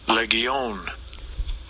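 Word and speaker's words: λεγεών: It means Strongs G 3003 leon leion. Leon is how you say it in the Greek.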